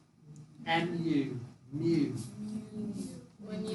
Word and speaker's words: mu: And do you know how to pronounce that letter? U. M. M-U, mu.